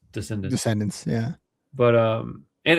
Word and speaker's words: Descendents: Descendants, yeah. But and it's spelled incorrectly, which I assume is on purpose.